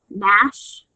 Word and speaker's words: gnash: Gnat, gnaw, nod, gnawing, gnash, gnashed, gnashing, gnarl, and gnarled. Remember, GN is pronounced N.